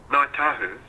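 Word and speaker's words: Ngāi Tahu: I don't know the pronunciation. Ngai Tahu. How do you say that correctly? Ngai Tahu.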